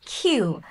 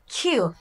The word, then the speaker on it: queue: সো লাইনকে ইংরেজিতে বলা হয় কিউ। কিউ, দেখেন কিউ ইউ ই ইউ ই, বানানটা দেখে কমপ্লেক্স মনে হলো, উচ্চারণটা একদমই সহজ। কিউ, কিউ।